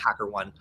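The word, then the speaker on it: HackerOne: uh could be or I believe it's pronounced hacker one uh but either one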